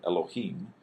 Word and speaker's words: Elohim: This is the lamed is a L sound, O, ha, and then a long E sound, and then a final M or mem. So Elohim.